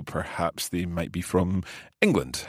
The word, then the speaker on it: England: England. So there's no hard G sound in there.